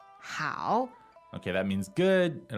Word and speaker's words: 好: It is, 好, 好. okay, that means good. It also means fine, Okay. great, okay. Right. All right, and what tone is that? Third tone.